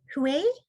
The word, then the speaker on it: Hui: you come on yeah my name is like um but not spelled like that um i also work